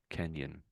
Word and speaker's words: canyon: And we sort of run it together. It's one sound pretty much. I would say Kenyon. Kenyon. I suppose I suppose there is there's a two syllables but it's said so quickly. Kenyon that you can't really hear it.